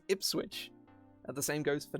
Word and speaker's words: Ipswich: The worst one, Ipswich, will be pronounced Ipswich. Like it's spelled like that. But no, that's an H. It's Ipswich.